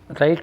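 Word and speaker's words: write: राइट राइट means लिखना, इसमें W silent है।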